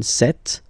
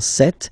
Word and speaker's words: cette: Ce, or then set, féminin set. So you can notice that phonetically these two are pronounced the same way. Okay, set here and then set here.